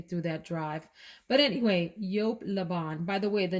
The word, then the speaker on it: Joop!: that i realized that it's not pronounced jupe although a lot of people do call it that it's yolk this fragrance here is